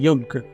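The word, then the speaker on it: yuj: uh in English letters it's Yu J it's pronounced as yug uh which means to unite to combine to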